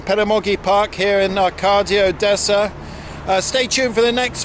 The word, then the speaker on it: Odessa: Well, the O is actually pronounced as an A much of the time in Russian, but I haven't found